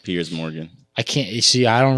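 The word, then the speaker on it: Piers Morgan: then Pierre Morgan with why are you saying Pierre Morgan his name is Pierce Pier it's Pierce isn't it like p i e RS yeah but it's pronounced Pierce Morgan I can't see I don't read different like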